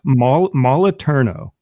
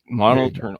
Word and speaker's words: Moliterno: And someday you will get my last name pronounced correctly. I didn't get it this time. It was close. It's Moliterno. Moliterno.